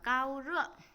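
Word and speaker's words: 高烧: Chúng ta sẽ đọc là cao rợ.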